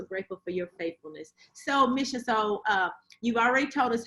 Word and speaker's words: Maschia: And Maschia, am I saying it right?